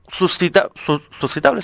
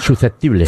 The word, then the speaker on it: susceptible: que se que sea suscitable se dice susceptible susceptible de criticar Sí